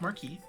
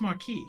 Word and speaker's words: Marque: it letter of Mark I think it's Marquee it's m r m a r q u e this might be an English British pronunciation you need another e in there to be Marque e oh okay well then it's Mark I think pirate should